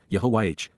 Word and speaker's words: Yahowah: Yahwa, God's personal and proper name, pronounced Yahwh based upon haya to exist.